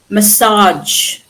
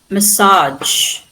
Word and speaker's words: massage: In British English the ar is normally stressed on the first syllable while American English stresses them on the last syllable.